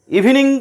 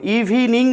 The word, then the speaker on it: evening: ইভিনিং তোমরা শব্দটা উচ্চারণটা ভালো করে জেনে রাখো, ইভিনিং নয়, ইভিনিং, ইভনিং।